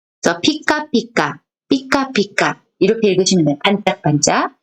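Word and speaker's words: ぴかぴか: 자, 타금이 붙었을 때는 비라고 읽었는데 반타금이 붙으면 피. 그래서 피카피카, 피카피카 이렇게 읽으시면 돼요.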